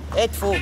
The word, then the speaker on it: Edfu: How do you pronounce Edfu? Edfu.